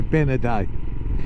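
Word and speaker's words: Bénodet: Or what is it? If you say it in English, but anyway, Benaday is how it's pronounced in Francais.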